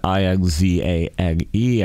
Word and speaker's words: Inzane: They spell it I-N-Z-A-N-E. I assume you still say it Inzane, but they did an amazing job with this.